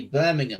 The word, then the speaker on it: Birmingham: like for example everyone every time you hear a US person an American person say say Birmingham they always say Birmingham yeah it's on the mind I say Birmingham yeah Birmingham okay says it's Birmingham you don't but you don't emphasize that never mind the like ham unless you go to the ham place then they really do